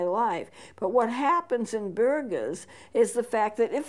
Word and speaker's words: Buerger: restaurant this is bu ERG ers burgers it's pronounced burgers bu ERG ers and it's caused by smoking